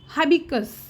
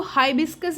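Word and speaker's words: hibiscus: English में मतलब हिबिस्कस को बोलेंगे हबिकस। तो हबिकस बोलते हैं। हिबिकस बोलते हैं तो एस को खा जाते हैं। तो सही वर्ड होता है हिबिस्कस।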